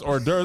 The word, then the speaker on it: hors d'oeuvres: that in cul-de-sac so when I read hors d'oeuvres in a book I said what is how is that race they were like boy that's hors d'oeuvres I said hors d'oeuvres you got all kind of letters you don't need in there yeah no and they